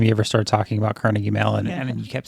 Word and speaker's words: Carnegie Mellon: we always talk about pittsburghers call it Carnegie Mellon it's not Carnegie melon it's yeah I remember the first time he ever started talking about Carnegie Mellon and you kept saying